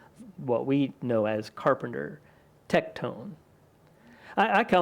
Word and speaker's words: tekton: to be one of us he's just a tectone that's pronunciation of the Greek word used to translate into what we know as Carpenter tectone I I kind of like to pronounce it